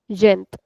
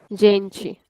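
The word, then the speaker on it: gente: call it as zenth yes and in Brazilian zeni jenchi so in European it is gent in Brazilian it is gen.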